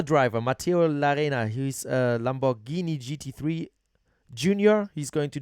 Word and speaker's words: Lamborghini: um Another driver, Matteo Larena, he's a Lamborghini GT3 Junior. He's going to join NTE Sport at Sebring, of course, in a Lamborghini Huracan. Is that right, Lamborghini? Lamborghini.